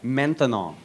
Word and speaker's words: maintenant: That's right, maintenant. Maintenant. 3 syllables.